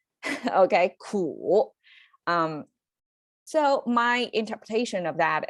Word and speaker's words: 苦: to bitter, the character, a sound 苦, and it's the third sound, right? I make this symbol to mean it's you have to pronounce it with a downturn and upturn. Okay, 苦.